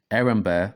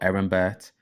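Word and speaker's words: Erembert: brother aaron burr or aaron burt now the reason why i say erin bear or aaron burt it's because sometimes the t is silent it just depends which dialect you pronounce in after his death in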